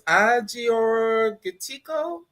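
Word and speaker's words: Agiorgitiko: Um, with the gan it's I'm not gonna say it wrong. It's Aior Giko from Greece.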